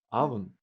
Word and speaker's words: oven: Только через много лет после того, как я эти слова выучил, я вдруг обнаружил, что в слове «авен» первая буква пишется «оу», но читается как «а».